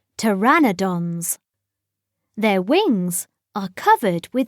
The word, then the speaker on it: pteranodon: winged and toothless how do you say it pteranodon say to a pteranodon is bigger than a